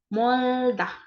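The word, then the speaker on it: 멀다: jauh itu bahasa Koreanya moldah mol bukan meol ya tapi moldahya jauh itu setelahnya baru ada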